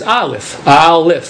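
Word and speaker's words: אלף: In Hebrew the letter olif is when you when you sound it out is alf.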